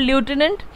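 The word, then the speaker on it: lieutenant: देखिए लेफ्टिनेंट की स्पेलिंग में एफ कहीं नहीं आता, that is called ल्यूटिनेंट, LIEUTINANT, लेफ्टिनेंट, ठीक है।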